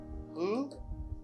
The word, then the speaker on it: who: Ça veut dire W à pas prononcer.